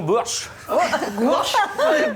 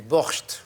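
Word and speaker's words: bortsch: du ah attention façon bourche alors alandre allez-y prononcezle on dit du Borch voilà et qu'est-ce que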